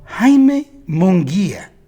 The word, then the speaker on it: Jaime Munguia: They can't even pronounce his name on TV. It's called Jaime Munguia. They would call him everything but his real name.